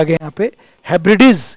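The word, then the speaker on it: Hebrides: आ गया यहां पर हैब्रिडीज इसका उच्चारण देखना मैं देख रहा हूं कई लोग गलत बोलते हैं इसको इसका उच्चारण है हेब्रिडीज हेब्रिडीज सीज हेब्रिडीज ये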